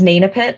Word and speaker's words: Naitnaphit: My name is Nainapit. The first T is silent, as is the H.